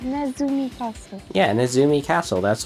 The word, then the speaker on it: Nezumi: Can't even pronounce it right. It's Nezumi Castle.